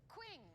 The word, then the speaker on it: Qing: Qing. Well, we will get there eventually. Queef. It rhymes with bling.